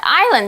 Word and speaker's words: island: Alright, island 这个字我们刚刚讲很多次，注意这个 s 不发音。这是一个可数名词，表示岛屿。比方像台湾就是一个岛屿，一个 island.